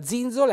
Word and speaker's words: zinzola: altri in altri modi Quindi la Zizzola è l'altalena un bell'accento tonico sulla i Quindi vedete i soliti